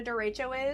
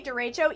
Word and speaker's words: derecho: Forgot to roll the R? Bruh. It's pronounced differently in Spanish. I'm just saying that's how we pronounce it here, okay? In the Midwest.